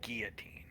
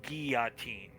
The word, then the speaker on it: guillotine: So first of all, he ends up dubbing himself Saint Guillotine. It was always pronounced guillotine, not guillotine.